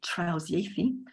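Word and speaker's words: trawsieithu: So translanguaging comes from the Welsh word trausieithu, an amalgam of tra, beyond, iaith, language, and it's transformed into a verb by the suffix u, which is pronounced e in Welsh.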